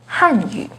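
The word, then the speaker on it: 汉语: The pinyin and tone for Hanyu is with the 4th falling tone on Han, Hanyu.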